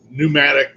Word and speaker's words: pneumatic: I know the English language is stupid because pneumatic starts with a P soras starts with a